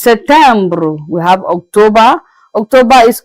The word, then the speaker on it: September: September is Septembre.